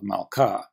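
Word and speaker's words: מַלְכָּה: If the syllable has the accent, well, duh, we call it the accented syllable, like meh of melek, var of davar, or ka of malka. Some people call it the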